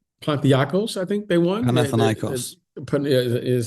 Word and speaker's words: Panathinaikos: Panathinaikos. Is how you pronounce it.